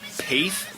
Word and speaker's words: Paeth: Okay, so that was Paeth, rhymes with faith.